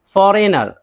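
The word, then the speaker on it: foreigner: फॉरेनर, फॉरेनर, जी एन है नहीं पढ़ेंगे, गैर मुल्की।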